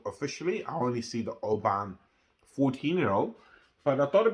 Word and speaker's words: Oban: saying it I say Oban some say OB but I say Oban and this is the way I pronounce it looking to review the